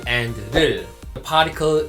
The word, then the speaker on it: 를: Many people pronounce object particle in wrong ways, like 울, 룰, or ol, lol. They are wrong.